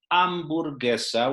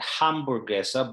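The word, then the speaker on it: hamburguesa: which means government okay h is always silent it's always it's written just for grammar purposes but it never sounds okay so if you say ambergessa which is spelled with an h at the beginning it's not hamburgessa but it's totally silent and the c in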